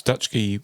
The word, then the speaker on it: Dutschke: still has the book available um so it's dutch G wines yeah Dutch G wines is all one